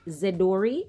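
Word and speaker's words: Zedoary: corner they hope I have for you it's pronounced Z Dori spelled Z D o ary it's otherwise called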